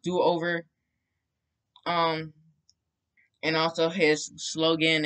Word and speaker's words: Doover: to do-over um or duver i call him duver but it's actually pronounced do-over um and also his